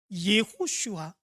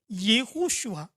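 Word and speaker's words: יהושע: 있 입니다 그것은 어이 여호수아의 히브리식 발음이 예호슈아 하는 말입니다 예호슈아 근데이 말을 헬라어로 번역할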